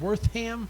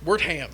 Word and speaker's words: Wertham: Wortham? Wertham. Wertham. It's literally Wirt and then the word ham.